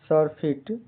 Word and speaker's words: surfeit: जैसे SURFEIT का उच्चारण प्रोनाउंसिएशन सरफिट। यहाँ पर सर का उच्चारण सर जैसा होता है। FIT फिट छोटी ई की ध्वनि देता है।